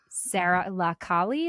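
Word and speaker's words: Sara la Kali: Sarah Lakali? Is that how you pronounce it?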